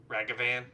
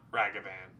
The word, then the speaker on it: Ragavan: like hey guys listen it's not ragavan it's ragavan it's not that hard